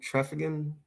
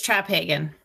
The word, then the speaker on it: Traphagen: And Kathleen Treffigan. Have I pronounced that correctly? It's Traphagen, but that's what a lot of people say.